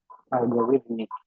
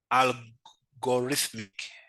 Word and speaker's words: algorithmic: Let me just get its pronunciation right. Algorithmic. Algorithmic. Yeah, there's the rhythmic somewhere.